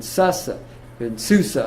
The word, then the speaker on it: Susa: And then within that period, these are those Jews that were left in Persia, in Susa, I guess is how you pronounce that.